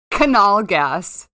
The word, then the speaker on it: Knallgas: You pronounce in German. You pronounce the K. Oh. Canal gas. Can you spell it now?